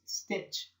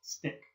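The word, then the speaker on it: stich: stick dammit cannot stick for English speakers we would think it's pronounced stitch but it's not it's pronounced stick to come here's my stitch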